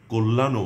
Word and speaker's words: কল্যাণ: যদি শব্দের আদ্য বা প্রথম অ এর পর জফলাযুক্ত ব্যঞ্জন বর্ণ থাকে, তাহলে প্রায়শ তার উচ্চারণ ও এর মতো হয়।